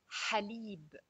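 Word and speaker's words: حليب: Ha with al fatha is pronounced ha. Ha. As in the word halib, which means milk. Halib.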